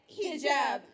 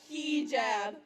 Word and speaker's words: hijab: It's hijab, not hijab. Learn to work your tongue around it. Bend and twist until you get the perfect sound.